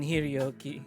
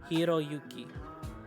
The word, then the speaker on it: Hiroyuki: It's good to see you again, Hiroyuki. I'm gonna say that again because I pronounced the name wrong. Hiroyuki.